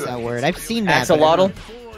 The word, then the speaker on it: Axolotl: How do you pronounce that word? I've seen that. Axolotl. Axolotl.